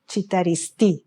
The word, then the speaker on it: Citaristi: So everybody is pronouncing in the English style mane E as Ili, but in Italian is Ileana, and CI in Italy is Chi and not C.